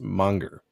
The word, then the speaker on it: manga: Sheldon manga is pronounced Monger for sure where is it Monger Monger you know because people pronounce a as they put an r on a sometimes you know not me